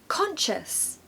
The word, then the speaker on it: conscious: syllable conscious conscious and this time we have a CH sound like with cheese okay or church CH so conscious conscious ignore the S and the C in the middle it doesn't exist we want to replace that with a CH sound that second syllable